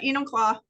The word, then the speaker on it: Enumclaw: I always butcher it so I was at Enumclaw thank you you're welcome I was at Enumclaw